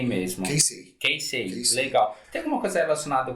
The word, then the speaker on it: Keisei: O nome da sua academia, me corrija se eu falar a pronúncia errada, tá? É Keisei mesmo. Keisei, legal.